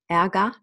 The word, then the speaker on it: Ärger: The E and the R in final, at the end of a syllable is A. Ärger, der Ärger, nicht der Ärger, Ärger.